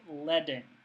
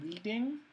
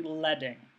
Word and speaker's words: leading: space between the lines of type is called leing um it people often mispronounce this as leading that's not correct this is actually leing uh it comes comes from the fact that